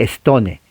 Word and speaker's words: Stone: No se lee Stone. La E no se pronuncia. Es con N de Nancy.